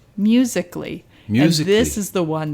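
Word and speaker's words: musical.ly: Amy could you not know how to say musically but but it was because it's spelled out musical.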